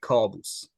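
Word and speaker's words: Kaboos: Is it Kaaboos? It's in Persian we pronounce it like Kaaboos.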